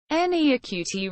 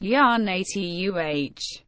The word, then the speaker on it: Janita: Janita Maria, YA-nee-tuh Raukko, born the 28th of December 1978, better known by her stage name Janita, pronounced YA-nee-tuh, is a Finnish-American singer-songwriter.